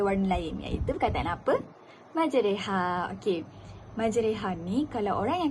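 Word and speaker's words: مجراها: antara Alif dan ya cara membacanya adalah memiringkan bunyi fathah ke kasrah pada kata majreha ha dengan kata lain huruf ra yang dibaca ra dimiringkan menjadi e ataupun re ha okey tak faham kan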